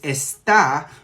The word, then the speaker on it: está: feminine in Spanish now what I think you're referring to is esta which would have an accent on the a that is going to be a star and it's going to be conjugated for he or she and that is going to mean is okay so let's talk